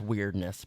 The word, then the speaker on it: Wyrdness: The weirdness is spelled WYRDNESS. So just take out the EI and it's weirdness. But so like basically the